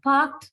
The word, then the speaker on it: parked: Although ed is there at the end sound is ter, right?